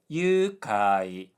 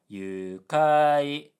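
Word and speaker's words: 愉快: But of course, I know this is Duolingo, so I can kind of guess that it meant yukai, high low low, meaning joyful. But the Duolingo pronunciation is yukai, low high high, which kind of sounds like a name of an obscure place, like yukai.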